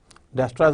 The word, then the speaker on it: Dijkstra's: अब हम पहला एल्गोरिदम देख लेते हैं जो कि डिजक्स्ट्रास एल्गोरिदम इसका हम नाम है, जिसमें जे और के साइलेंट डच साइंटिस्ट हैं, 1959 में उन्होंने पेपर शाया किया था।